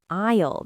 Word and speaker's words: aisle: Ah, an aisle. That's the long row between the shelves. Aisle 7. Got it. And for our listeners, aisle is spelled A-I-S-L-E. The S is silent.